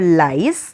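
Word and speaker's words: Lais: Her work is called Lays और Lies, दोनों तरह से प्रोनाउंस किया जाता है.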